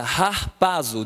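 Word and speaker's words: ἁρπάζω: eu coloquei aqui em que se pronuncia rar paso de agarrar paso o que quer dizer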